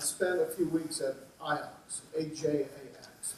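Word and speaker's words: Ajax: Netherlands uh and spent a few weeks at iox AJ ax it's pronounced iox which is you know maybe the best soccer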